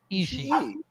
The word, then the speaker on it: Ishii: Tomohiro Ishii. Yes. There's Ish, and then there's a E. Ishii.